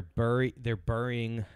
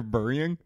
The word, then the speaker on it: burying: They're burying? Burying. You say it like that? Yeah, what? Am I dumb? Burying. Yeah, buried. Bury? Buried. Like like Crunch Berry?